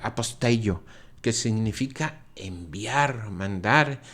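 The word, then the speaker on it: ἀποστέλλω: Este es el único lugar del Evangelio donde Marcos utiliza esa palabra griega que se pronuncia aposteio, que significa enviar, mandar,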